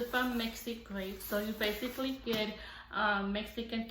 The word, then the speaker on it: MexiCrate: That's how you pronounce it. It's from MexiCrate.